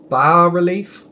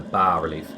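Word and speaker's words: bas-relief: You think the S is silent, so it's ba. It's a bas relief. Ba. Ba like a sheep.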